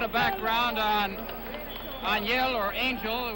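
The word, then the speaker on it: Ángel: A little bit of background on Angel, or Angel, which is the English pronunciation of his name, Angel Espada, 25 years of age to Clyde Gray's 28 years of age.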